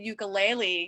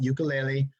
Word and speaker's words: ukulele: am an awful ukulele that's how they say it on the islands folks not ukulele ukulele or yuk and so I'm teaching